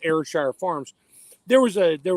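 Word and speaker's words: Ayrshire: other cow you mentioned airshire that's how you pronounce it airshire I had a customer for the company I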